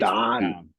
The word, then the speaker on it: dahn: Now for those who don't know Pittsburghese, down is spelled DAHN. So if you ever want to go to downtown Pittsburgh, you just put the A, the H, and the N.